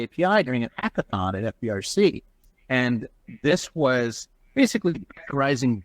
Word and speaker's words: FBRC: adviser for a company called fbrc pronounced fabric they're an incubator here